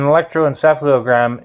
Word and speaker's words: electroencephalogram: Quite Brobdingnagian, a bit of a gigantic word, but an electroencephalogram is normally used for doing mind mapping in the case of like an EEG.